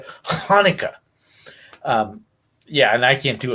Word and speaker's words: Hanukkah: So, in it, so like, if you're going to say Hanukkah, right, it's actually a Hanukkah.